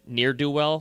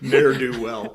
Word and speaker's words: ne'er-do-well: And also, right away, we knew Steve didn't have to tell us his age because he said near-do-well. How do you say it? Ne'er-do-well.